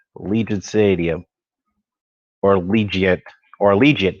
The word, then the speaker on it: Allegiant: stadium or legion or allegiant that's how you pronounce it not allegiance allegiant stadium so it's a dome